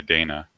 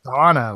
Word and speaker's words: Dana: I would say Dana. It's Donna. Like in the game, they Oh, pronounce it Donna.